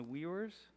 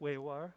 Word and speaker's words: Uyghur: year ago, on the Uyghurs. How do you say that? The Uyghurs, the Muslim group? Weiwar. Uyghur? So in English, people say Uyghurs, but in Mandarin, you say Uyghur.